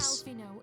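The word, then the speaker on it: Alphinaud: That is Alfino, if you would. not how I would have ever pronounced that.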